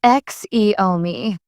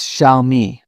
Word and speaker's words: Xiaomi: People often call Xiaomi as Xiaomi. It's Xiaomi with a soft start.